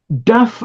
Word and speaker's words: duff: Duff originally referred to a type of boiled or steamed pudding. So the basically the Northern English pronunciation of dough was duff.